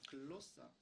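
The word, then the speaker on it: γλῶσσα: 글로사. 其希伯来文的发音呢叫 glossa， 이것은 혀, 우리 말의 혀, 舌头、 언어, 语言， 방언, 还有方言、 외국어 外语， 이런 뜻이 있어요.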